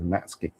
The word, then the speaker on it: Matsuki: We're calling him Matsuki tonight because all the players call him Matsuki Matsuki even though apparently the correct pronunciation is Matski.